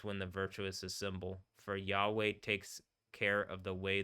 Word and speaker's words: Yahweh: So rather than being pronounced Yahweh.